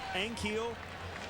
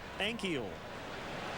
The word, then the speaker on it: Ankiel: is his last name we've heard ankio and keel but it's actually three syllables like ankle but add an e in the middle ankyl i asked him today